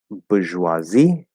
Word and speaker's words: bourgeoisie: And for the syllable stress, so bourgeoisie, bourgeoisie, bourgeoise, and bourgeois. So the stress will change in the first one.